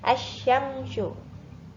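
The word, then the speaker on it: الشمس: Asyamsyu. Nah, L-nya nggak terlihat ya, karena lamnya dibaca masuk ke huruf setelahnya di sini. Setelah alif lam ada huruf samsiah, yaitu huruf shin. Bacanya langsung ke huruf shinnya. Asyamsu.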